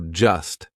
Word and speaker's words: just: should ask for help we drop that t we do not pronounce it so just sounds like just right just an S I'm just saying all